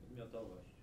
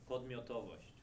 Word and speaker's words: Podmiotowość: And I'll let Maciej Barkowski pronounce this word which he used to describe what I call cognitive authoring. Podmiotowość. Louder. Podmiotowość. Podmiotowość.